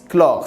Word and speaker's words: chlore: chlore ça se prononce clore ses ailes c'est pas ch donc il prend ses